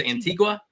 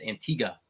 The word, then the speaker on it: Antigua: that that's actually how you pronounce it we thought it was antigua they were like hey you're saying it wrong and we're like we are we're staying around yeah it's antigua so if you ever